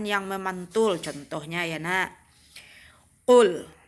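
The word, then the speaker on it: قل: Qul. Jadi membaca qul itu bukan kul.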